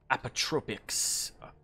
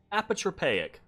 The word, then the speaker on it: apotropaic: Apotropics. Apotropaic? I don't know how to fucking pronounce that word. I think it's apotropic. I have the internet. Apotropaic. There we go.